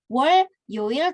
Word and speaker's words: 월요일: Jadi cara membacanya si realnya ini naik ya ke atas menggantikan konsonan iong ini. Jadi bukan 월요일 tapi 월요일 gitu ya, disambung bacanya.